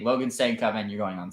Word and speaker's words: Stankoven: It's Stankoven, not Stankoven.